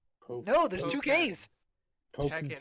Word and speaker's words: Tekken: Tekken. It's not called Takken.